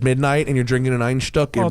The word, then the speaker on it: Einstök: because it's Einstök, light. which is spelled Einstok. Wow. One star. You can actually get it at Einstök.